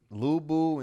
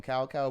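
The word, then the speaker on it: Lü Bu: like weeks yo lou was that dude lubu in south south but i used to call him cow cow before i realized the actual pronunciation though the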